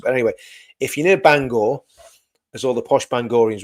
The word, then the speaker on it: Bangor: if you're anywhere near Banga, Banga, I always pronounce it wrong because it just, you know, because I'm English, I say Bang apparently it's not the way to pronounce it, but anyway, if